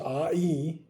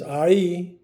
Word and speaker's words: Ai: out this country of AI. And I looked that up, by the way. That's how it's pronounced, AI. Not I. Like I always say, I but it's AI.